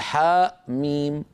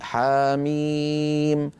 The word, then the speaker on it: حم: يعني في القرآن العظيم لا تنطق مهموزة، يعني لا نقول حاء ميم بل نقول حاميم.